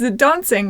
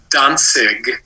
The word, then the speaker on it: Dontzig: It's Dontzig, right? Like dancing, only dancing? It's Dontzig. Dontzig. It's spelled with a T, but the T is kind of silent.